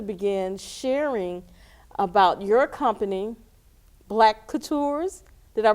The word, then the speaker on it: Black CouTours: And I want you to begin sharing about your company, Black CouTours. Did I pronounce that right?